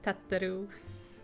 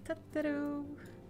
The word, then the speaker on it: Tataru: I know it's not how you pronounce it, but I will forever pronounce it as Tataru. Because he's so cute. It is Tataru.